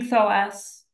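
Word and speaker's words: Thoas: I have him he's a king um King thos which is spelled t h o a s thank you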